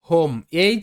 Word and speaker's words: home: তো প্রথমে ও থাকবে, তারপর একটা কনসোনেন্ট, তারপর আবারও যদি ভাওয়েল থাকে, তাহলে ও এর উচ্চারণটা ও হবে, মানে ওকার আসবে। শব্দ যেমন হোম, HOME, হোম।